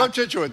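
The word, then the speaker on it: Cochituate: Contituate.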